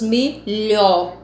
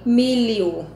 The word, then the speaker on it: milho: Então, na hora da pronúncia, nós pronunciamos milho. O lho, le-ó. Então, esse milho, na hora de você procurar os fonemas, esse LH ele vai ter som de L e nós colocamos um I, milho.